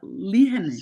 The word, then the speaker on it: Lehane: Lehane.